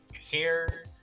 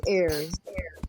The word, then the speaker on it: heir: A noble hair hire. I don't know how to pronounce that. Hair to the floor. It's air. Air. Thank you very much.